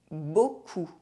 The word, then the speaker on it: beaucoup: The letters I, A, U are also always pronounced O. De l'eau. Beaucoup.